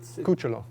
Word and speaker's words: Cucciolo: How do you pronounce it? Cucciolo. Cucciolo.